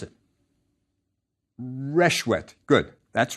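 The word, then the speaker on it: ršwt: How would you pronounce it? Reshwet. Good. That's right. Reshwet.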